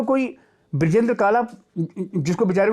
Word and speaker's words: काला: शुरू में मेरे को कोई ब्रजेंद्र काला, जिसको बेचारे को कतई नहीं पता ना, तो प्रोनाउंस नहीं कर पाता है। वो काला की जगह कालरा कर देगा, वो काला की जगह काले कर देगा।